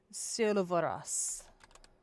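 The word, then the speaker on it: Sylvaras: So it's spelled S Y L V A R A S. silverus.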